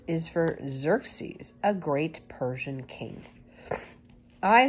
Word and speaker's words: Xerxes: had a son named Xerxes pronounced as if it began with a z this is actually the